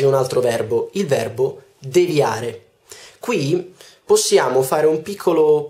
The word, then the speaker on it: devia: direzione di aree quindi l'accento in realtà è come in inviare noi diciamo egli in via dunque devia e non devia molti dicono devia in realtà si dice devia terza parola anche qui